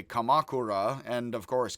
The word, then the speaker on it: Kamakura: uh i would say kamakura and of course kamakura would be the way more americans would pronounce that again i try to stress third to last syllable and set a second